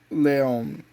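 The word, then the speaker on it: León: This is the second generation Seat Leon.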